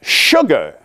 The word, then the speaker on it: sugar: He said, gentlemen, do you realize that sugar is the only word in the English language where the S-U is pronounced with an H sound.